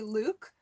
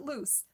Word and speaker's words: Luc: Yeah, did anyone else struggle with pronouncing his name? I think it's supposed to be Luke, but when she said short for Lucian, I went, wait, is it still pronounced Luke or is it loose?